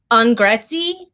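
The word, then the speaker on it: Angrezi: um the title incorrectly i think it's pronounced on gretzi on grey andre sure on a-n-g-r-e-z-i medium it looks like a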